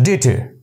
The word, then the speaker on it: debtor: So, debtor. The correct pronunciation of this word is debtor.